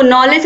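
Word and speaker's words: knowledge: जो इसमें जो कि है वह क्या है साइलेंट है तो नॉलेज हम पढ़ते हैं नो डब्लू LED ईपी लेकिन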